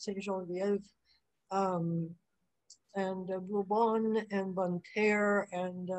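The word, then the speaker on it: Ste. Genevieve: Genevieve, which is, should be pronounced St. Genevieve, and Bourbon and Bonterre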